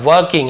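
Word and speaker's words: working: है बाय वर्किंग together वर्किंग है ना वर्किंग ऐसे बोलते हैं आर थोड़ा साइलेंट वर्किंग भी बोल सकते हो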